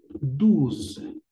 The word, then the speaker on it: douze: Se escribe así y la pronunciación será de esta forma. Douze, douze.